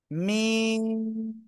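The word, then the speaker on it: ميم: আর উপায় নাই আমার মিম মিম চার আলিফ টান হবে দুই ঠোঁটের শুকনো জায়গা থেকে মিম অক্ষরটি উচ্চারিত হবে ঠিক আছে সবাই অক্ষরটা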